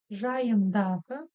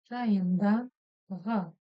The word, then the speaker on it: жайындағы: Помним о том, что буква «ы» в казахском языке, в отличие от русского языка, читается очень и очень коротко. Если бы мы читали по-русски, было бы так. Жайындағы. Но в казахском языке она как будто бы обрубается. Жайындағы. Все. Вроде бы она есть, но вроде бы ее нет.